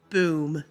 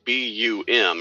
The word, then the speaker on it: BUM: So the initials would be BUM, right? Yes, that's correct. So that would technically be pronounced as bum, right? Technically, yes, but we like the sound of boom, so we're going to call it BOOM.